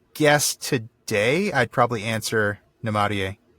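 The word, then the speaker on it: Namárië: today I'd probably answer Namarie. Namarie. Yes, that is such a lovely word. Pure music. Yeah. It's only 7 letters, but there's 4 syllables in it, which is just kind of amazing to me.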